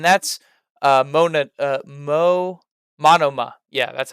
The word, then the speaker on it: Monoma: his personality and that's uh mona uh mo monoma yeah that's how you say it matama and